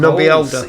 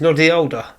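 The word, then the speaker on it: Noddy Holder: Nobby Older. Yes. What did you just? His name is Noddy Older. Oh, thank God there's a double D there, because I thought you mispronounced it the first time.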